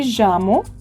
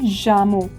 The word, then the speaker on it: llamo: I'll say me llamo no. If you read this particular line, me llamo, the double L is always pronounced as je.